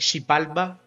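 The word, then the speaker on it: Xibalba: So shibalba is basically x i b a lb b a in Mayan right but sometimes whatever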